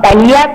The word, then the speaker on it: Thalía: Thalía es sin H y es con... Sin en H. realidad, ajá, en las redes sociales no la van a encontrar con acento en la I, pero es con acento en la I. ¿No, Thalí? O sea, sí, para el acento va ahí aunque no se vea.